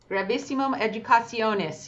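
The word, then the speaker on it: Gravissimum Educationis: Can you pronounce that? Grabisimum Educasionis.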